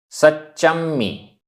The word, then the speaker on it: सच्चम्मि: सच्चम्मी, आधा च पूरा च, आधा मा पूरा मा।